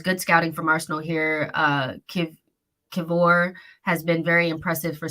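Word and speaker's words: Kiwior: Would you guys tell me it was Kiwoir? Because the W is a V in Polish.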